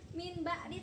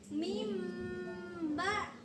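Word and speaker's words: مِنْ بَعْدِ: Jadi, bacanya bukan min ba'di, tapi mim ba.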